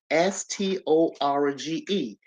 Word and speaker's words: storge: Then we got the storage, Storge. It's pronounced storge.